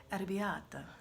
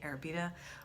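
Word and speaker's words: arrabbiata: sausage in it but i feel like an idiot when i say arabiata um just like i wouldn't say marinada i just say marinara so it's these awful like american ways that we pronounce things so i tend to say arabida or it's arabiata but you know what i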